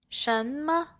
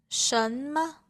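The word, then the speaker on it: 什么: 什么, 什么. Here, the second character has a neutral tone.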